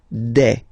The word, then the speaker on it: des: form okay and then the plural form de all right here a s you pronounce it you pronounce it like e okay all right let's